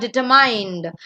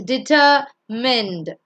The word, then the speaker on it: determined: Determined, it's not determined, it's determined. Foot.